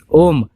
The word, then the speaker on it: ओम: दोस्तों, अगर हम बात करें ओम के उच्चारण की तो ओम का उच्चारण 3 ध्वनियों से मिलकर बना है। इनका अर्थ वेदों में भी बताया गया है। ओम, आ, उ और मा इन 3 शब्दों से मिलकर बना है।